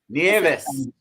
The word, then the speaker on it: Nieves: Nieves.